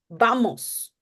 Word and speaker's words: vamos: Yeah, and it's very important to pronounce the A as in the Spanish way. So in English, we say apple, Spanish. But in español, you cut it. You say, vamos, van, right?